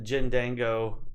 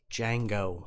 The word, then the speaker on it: Django: I've heard of Jindango Unchained. It's Django. I don't know. The D I have to hear things. is silent.